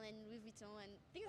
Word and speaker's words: Louis Vuitton: Could you show me how to pronounce Chanel and Louis Vuitton? Chanel, Louis Vuitton.